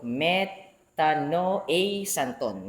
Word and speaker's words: metanoēsantōn: This is the actual transliteration pronunciation and then I'll read the the notation or what I've got. So methaano a santon.